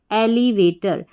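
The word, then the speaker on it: elevator: एलली वे और टर टी ओ आर टर एलिवेटर एलिवेटर का मतलब होता है लिफ्ट क्या है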